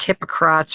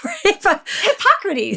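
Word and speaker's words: Hippocrates: You know, there's this super famous quote from I can never say this word like hypocrats or hippo hipp how how do you say this? Hypocrates.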